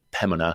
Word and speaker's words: Pembina: barrhead in Orlando area um be careful don't pronounce the b impemina I've been told that on several occasions pemina um for all you folks up in Pembina